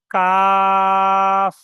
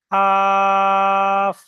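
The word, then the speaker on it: كاف: কাফ। Simple ভাবে পড়তে হবে। কাফ।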